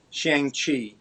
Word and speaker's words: Shang-Chi: Don't know if you've been to a Target lately, but Shang-Chi, or how did you pronounce it, Dean? You're probably doing it better. Shang-Chi.